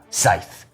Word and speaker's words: Scythe: I have the one, the only, Scythe. Oh, And that's how you say it. that's right. It's Scythe, and anyone else who says otherwise is wrong.